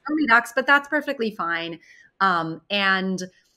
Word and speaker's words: SoMeDocs: Some people still call it SoMeDocs because they don't realize it's pronounced SoMeDocs, but that's perfectly fine.